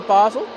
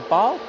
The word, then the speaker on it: Basel: Uh, this A32200 is off to Basel or Bal. I've heard it pronounced both ways.